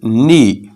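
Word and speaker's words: knee: घुटना की इंग्लिश होगी नी नी यहां पर हम के को साइलेंट रखेंगे नी यानी घुटना होठ इंग्लिश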